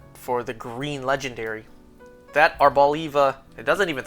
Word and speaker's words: Arboliva: Arbaliva oil. Not arboliva. You know for an olive. The pronunciation of olive is not in the Pokemon's name based on an olive. Arbaliva, as they officially told us it's pronounced.